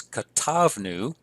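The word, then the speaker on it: כָּתַבְנוּ: Note again we have an accent on the second to last syllable, so it's katavnu et hamitzvot la'am.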